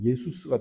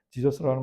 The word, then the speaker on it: 예수: 그러니까 이게 이제 헬라어로 갈 때에 헬라어로 가면서 예수스가 돼요. 그러다가 이제 우리나라에서는 이제 보통 예수님, 영어로 뭐 지저스 그러는데 사실 예수라는 이 발음이 원문에 사실은 더 가깝죠. 예수스보다, 지저스보다는 훨씬 더 원문에 가깝습니다. 지저스라는 말은 상당히 많이 그 원래 발음에서 벗어났어요.